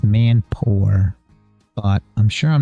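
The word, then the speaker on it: mampoer: top wck and poor it's spelled m a m p o e r which I probably don't pronounce correctly and sunny you probably do because unfortunately my American accent isn't always correct I try to say it right I think it's Man Poor but I'm sure I'm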